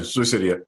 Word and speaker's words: Sioux City: Did I pronounce that right? Yeah, Sioux City.